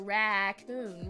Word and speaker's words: raccoon: a Raton it's a raccoon raccoon raccoon raccoon it's not a raccoon Ron racon it it has two syllables raccoon raccoon and oome I just